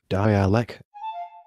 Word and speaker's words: dialect: and Guadeloupe it is referred to locally by terms such as dialect pronounced die alak Anguilla torkoal Anguilla n'